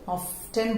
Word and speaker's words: often: tell it as often, often बोलते हैं वो लोग, लेकिन but in the normal English this T is silent, it's told often. I often play, मैं अधिकांश क्रिकेट खेलता हूं। I often go to the market, okay, understood?